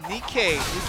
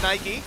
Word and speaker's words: Nikkei: WR going up against Nikkei. And they specifically told us not to pronounce it Nike. It is Nikkei, and for pronouncing it